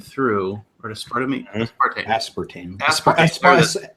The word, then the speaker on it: aspartame: human trials they put aspartame through, or aspartame. Aspartame. I always put the wrong emphasis on the wrong syllable. I do it every time.